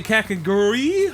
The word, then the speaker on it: Kakegurui: All right, dude, we made it through Kakegurui, or how do you say Kakegurui? KAKEGURUI. Kakegurui? Rui. Like your girl from Domestic Girlfriend. Rui. Rui. Gurui. KAKEGURUI.